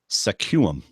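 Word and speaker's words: Sequim: she wants me to pronounce this Town SQ uim which is obviously suum and for anyone else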